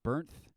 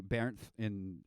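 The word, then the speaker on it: Bernth: there's this guy named burnt you pronounce in english but it's pronounced differently bear in um i think he's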